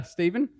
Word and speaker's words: Stephen: uh my name's uh Steven it's quite confusingly spelled with a pH and not a v uh blame my parents